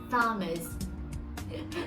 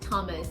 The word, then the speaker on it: Thomas: It doesn't vibrate here. Thomas. So TH here is not Thomas. No, okay, it's just Thomas or Tom.